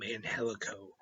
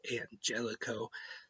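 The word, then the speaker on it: Angélico: part of Triple A they mostly called him man helico but lately they've been calling him Angelico I just thought they were pronouncing it wrong but Tony shavani actually explained on commentary tonight that he actually prefers that it's Angelico so I know now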